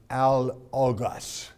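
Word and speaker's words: ἄλογος: The word in the Greek is pronounced al-ogos. Al-ogos is simply A and logos.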